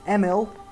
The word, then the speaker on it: Emil: And really the only other main tie-in is Emil, actually. I learned that I was pronouncing the name wrong and apparently forgot about that lesson. To actually pronounce it correctly. Emil is his name.